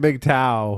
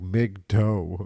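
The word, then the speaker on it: MGTOW: what does that mean supposed to be big tow was men going their own way but it's spelled like Mig toe like a tow truck calling it Mig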